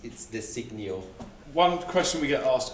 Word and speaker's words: Desiknio: First of all, what is the correct pronunciation for Desiknio? I have to say the name is a bit difficult. So it's Desiknio.